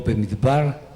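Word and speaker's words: במדבר: Lo mismo Devarim, lo mismo Bemidbar, ¿ok? Lo mismo Shemot. No es una vocal muda, sino una vocal muy corta, pero se pronuncia.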